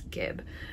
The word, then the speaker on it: Gib: the um nurtured pullover I pronounced it jib last time but I went back and watched some of Andrea Mowry's old podcasts and I now know that it is Gib um so I ended